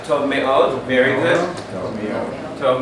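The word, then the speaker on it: מאוד: Make sure you pronounce those syllables correctly. Me'od. Me'od. Me'od. It's almost like you put a little stress on each one, because if not, it'll slur together and you won't hear the vowels.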